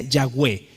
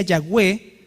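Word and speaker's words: Yahweh: H No es cierto ahora cómo se pronunciaba exactamente esto nadie tiene idea exactamente cómo era los más cercanos dicen que se decía yagé y como se decía yahwe Entonces se escribió Jehová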